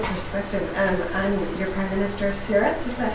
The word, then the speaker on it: Tsipras: So, just your personal perspective on your Prime Minister Tsipras, is that how you pronounce it? The guy Tsipras. Tsipras.